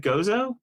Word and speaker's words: Gozo: You also see uh Real Salt Lake with Do you pronounce it Gozo? Gozo, Gozo, right?